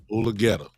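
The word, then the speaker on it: Mulugheta: So if Jerry had a problem, so quote unquote, with Dave Mulgeta, or how you pronounce his name? Mulgeta, my friend.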